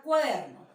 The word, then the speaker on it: cuaderno: Voy a identificar cuál es la sílaba tónica, aquella que tiene la mayor fuerza de voz. Cuaderno. Entonces, ¿cuál es la sílaba tónica? La palabra o la sílaba der en este caso.